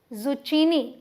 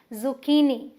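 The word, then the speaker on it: zucchini: Important term जिसे कि अगर आप बोल दें जुचीनी तो गलत हो जाएगा। यहाँ पर ये जो CH है इसे हम क प्रोनाउंस करेंगे तो ये क्या है? जुकीनी। और स्ट्रेस कहाँ दे रहे हैं? देखिए की पे।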